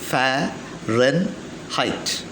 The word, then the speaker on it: Fahrenheit: united states of america that is farron height f a h r e n h e i t f a h r e n h e i t which is pronounced as fahrenheit fair run height now let us take celsius in the first